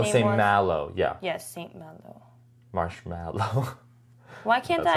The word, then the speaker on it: Saint Malo: Saint Malone. Oh my gosh, you're so close. Saint. But it's Saint Malo.